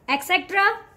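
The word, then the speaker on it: etc.: this word okay but the right way to say this word is etc etc first try to just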